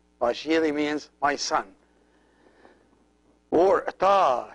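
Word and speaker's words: ⲡⲁϣⲏⲣⲓ: And as you see, this is the shai, and this is the ita, which is the one pronounced like E, and then ro and iota, which is I. So it's pa shiri.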